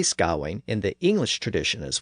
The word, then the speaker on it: Gawain: First, if we use the normal spelling G-A-W-A-I-N, we encounter that letter combination A-I in the second syllable. In Old English, that spelling typically represented the I sound, so that would give us the pronunciation Gawain.